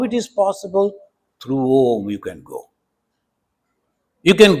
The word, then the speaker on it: Om: Om iti eka aksharam brahma vyaharan. You have to pronounce it properly. A, U, Ma.